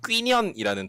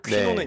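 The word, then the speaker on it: Quy Nhơn: 그래서 빈딘성의 대표적인 도시가 뀌년이라는 도시가 있는데 네. 이태원에 퀴논길, 아, 퀴년 퀴논길. 길이 예. 있어요. 그 퀴논 길이 예. 뀌년이에요. 아, 그러니까 뀌년이 베트남식 발음이고 퀴논은 네. 영어식으로 읽은 거거든요.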